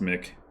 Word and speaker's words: Mic: I think it's Mick. It was probably me who was saying it wrong.